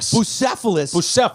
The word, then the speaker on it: Bucephalus: How do you pronounce that? 𝒂💔? Bucephalus.